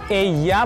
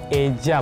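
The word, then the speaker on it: ella: Pronounce किया जाता है, कहीं किसी जगह एया बोला जाता है, किसी किसी जगह पे एया बोला जाता है, किसी जगह पे एजा बोला जाता है। सो एया प्रेफर करिए क्योंकि स्पेन में बोला जाता है, अगर आप स्पेन में हैं तो।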